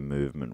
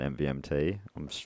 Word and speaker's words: MVMT: to talk about MVMT movement watches? You don't pronounce it MVMT. I've been strictly told by a note here, and I never will again.